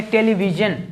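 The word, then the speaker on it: television: जैसे इसको क्या बोलेंगे, टेलीविजन, जबकि इसको क्या बोलेगा, प्रोफेशन। यहाँ भी SION आ रहा है, यहाँ भी SION आ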